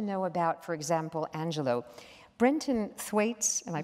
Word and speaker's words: Brenton Thwaites: Brenton Thwaites, am I pronouncing it right?